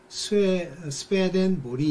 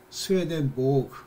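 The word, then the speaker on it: Swedenborg: 그래서 이제 그거를 스웨덴 발음으로는 스페덴보리 이렇게 부른대요. 그렇지만 뭐 이제 그걸 영어식으로 독일어식으로 이렇게 하면 스웨덴보그 이렇게 부르기도 하고 그런데요.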